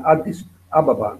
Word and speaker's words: Addis Ababa: trova Addis che che qui la si chiama Addis ababa non Abeba Come si dice in italiano ma questo sono pronunce